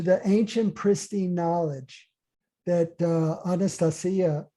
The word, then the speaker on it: Anastasia: The cutting edge of spiritual evolution now is coming full circle to the ancient pristine knowledge that Anastasia, that's how you pronounce it in Russian, Anastasia conveys, but that